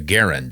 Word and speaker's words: Garand: than they could for the Garand, or the Garand as it's pronounced, I believe.